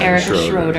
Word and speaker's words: Erica Schroeder: Next to him, we have, you gotta give me the proper pronunciation. Erica Schroeder.